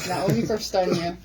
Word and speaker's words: Naomi Korstanje: And with me in the studios this morning is none other than Naomi Korstanje. Now, my Dutch is good, so I think I pronounced that good, right, Naomi? Yes, Naomi Korstanje.